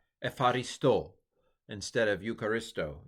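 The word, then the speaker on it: εὐχαριστῶ: Now this one, modern Greeks, of course, tend to pronounce this as almost F. Epharisto instead of Eucharisto. Eucharisto sounds so boring, doesn't it?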